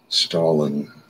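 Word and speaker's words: Stahelin: Stalin is a name of a, it's spelled like Stalin, Joseph Stalin, but S-T-A-H-E-L-I-N, makes the following remark.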